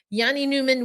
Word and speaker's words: Jani Nyman: that on yesterday's episode got the proper pronunciation Yanni Newman with his family in